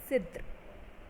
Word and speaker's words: cidre: CIDRE, it is pronounced as Sidr.